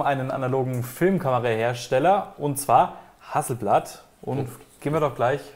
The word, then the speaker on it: Hasselblad: Es heißt nicht Hasselblad. Oh. Es heißt ja auch nicht Hasselnussbaum. Stimmt auch wieder, ja. Es heißt Hasselblad. Ah, Hasselblad.